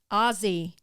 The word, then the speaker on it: Aussie: say Aussie just now spelled Aussie pronounced Ozzy Source I'm from New